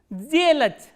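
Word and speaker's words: сделать: This voiceless consonant will be pronounced as its voiced counterpart, which is z. So, how will you pronounce this word? Zelach, zelach.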